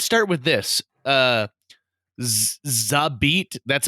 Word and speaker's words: XABeat: today me let's start with this this is a beat that's how you say it right like yes